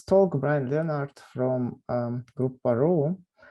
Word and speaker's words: Grouparoo: brian leonard from um group parole is it the right pronunciation group yes okay great kangaroo but yeah yes yesterday